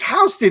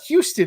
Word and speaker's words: Houston Street: i'd say everything wrong y'all call houston street houston it's houston it's not houston it has no relation to the city actually pretty it's spelled the exact same way yes i know but